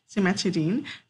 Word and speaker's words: cimetidine: see over here this medication over here called cimetidine so I know it's as dying but it's a she's pronounced as Dean cimetidine is a medication that we had to be